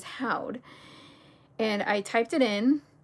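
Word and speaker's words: haud: And then I was like thinking in my mind how it's pronounced. And I was like, how'd? I was even pronouncing it I think the way it's said is how'd.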